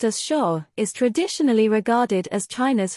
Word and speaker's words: Xia: influence Chinese thought and values the background the Shia Dynasty pronounced as Shaw is traditionally regarded as China's first dynasty existing